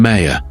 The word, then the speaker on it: Meir: She called him Meyer, the Hebrew pronunciation.